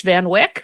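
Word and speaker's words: Van Wyck: flight I'm sure hates Van Wick or van wi depending on whether which pronunciation you want to use there are so many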